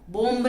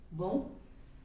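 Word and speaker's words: bomb: B alphabet के सामने यदि एम लगा हुआ है तो बी साइलेंट, बी की आवाज नहीं, बंद।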